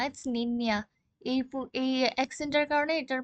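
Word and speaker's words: niña: হয়ে যায় আচ্ছা যাই হোক ওদের অ্যালফাবেট এইটার প্রোনাউন্সিয়েশন হচ্ছে এম ইয়ে যেমন হচ্ছে এটা আমি আগেও বলেছিলাম যেমন ওদের একটা ওয়ার্ড হচ্ছে নিন্নিয়া এটার কিন্তু হচ্ছে নিন্নিয়া হয়ে গেছে নট নি না ইটস নিন্নিয়া এই এক্সেন্টের কারণে এটার প্রোনাউন্সিয়েশন নিয়া হয়ে গেছে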